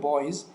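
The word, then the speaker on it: bees: بیز بچه ها میبینید بیز اس در آخر کلمه استفاده شده اما زی تلفظ میشه بیز بیز بچه‌ها نمبر ت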